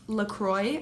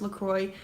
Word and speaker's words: LaCroix: that I'm actually drinking right now, and it's pronounced LaCroix. I had to look it up because I didn't know that it was pronounced LaCroix, but this is the cran raspberry flavored.